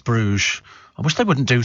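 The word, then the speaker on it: Bruges: good it is really so it's called Brugge pronounce Brugge I wish they wouldn't do things like that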